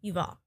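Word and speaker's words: Yuval: so thank you for I say Y and I don't even try V I believe okay You' all yeah Ferrari but he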